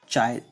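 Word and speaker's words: χ: So here the constant chi, this x which is pronounced as chi, this constant is proportionality constant, and it is only called electric susceptibility.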